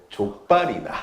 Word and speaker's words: 족발: 같이 쪽발이나 같이 드시러 가시죠. 발음 잘하셔야 됩니다. 예. 죄송합니다. 예. 족발이나. 족발이나.